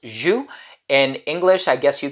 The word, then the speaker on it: J.U.S: the brand is j-u-s it's an acronym in french it's pronounced zhu in english i guess you can call it juice but it stands for